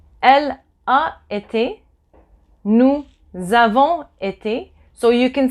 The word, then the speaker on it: nous avons été: And I'm telling you this like that if somebody uses this liaison, you don't go, oh, there's no Z in there. Why is there a Z? No, there's no Z. It's just that when you pronounce it, there suddenly appears to be a Z.